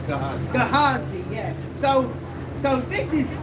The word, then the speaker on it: Gehazi: But Elisha had the servant Ganzi, if I'm pronouncing Gehazi, excuse my pronunciation of these Hebrew names. Yeah, I kind of like Ganzi as well, but his name is Gehazi.